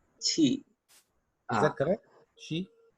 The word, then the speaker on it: qi: This is what has been described in TCM or traditional Chinese medicine as qi.